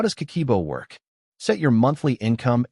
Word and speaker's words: Kakeibo: Kakeibo, pronounced Kakeibo, is a Japanese budgeting system that has been around since 1904, introduced by Hani Motoko, Japan's first female journalist.